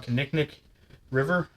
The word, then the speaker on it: Kinnickinnic: close to the, holy crap, I'm going to pronounce this wrong, Kinnickinnic River?